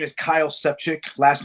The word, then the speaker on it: Sefcik: my man yeah so my name is kyle sepchick last name is spelled s-e-f-c-i-k um i'm running as unaffiliated for